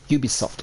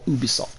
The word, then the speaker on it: Ubisoft: was created by Ubisoft Ubisoft or Ubisoft depending on how you want to pronounce it the big Canadian publisher